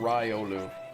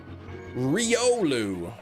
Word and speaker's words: Riolu: I'm going to see if it's Riolu or Ryolu. I think it's Ri, but I say Ry, but I typically try to correct myself if I'm saying it wrong. Quilava, Ratata, Reggie Steel, Remorade. It is Riolu. Re. Yeah, it is.